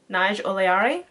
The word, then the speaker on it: Naj-Oleari: Naj-oleari. So yeah, that's how it's pronounced there, if you actually want to know properly what it actually says.